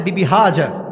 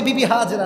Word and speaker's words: বিবি হাজা: হাজেরা নাই। নাম হচ্ছে বিবি হাজা। না আমি এত ভুল ধরাচ্ছি ভালোবাসার সাথে। এটা কোন অপমান নয়। আমরা বলি বিবি হাজেরা।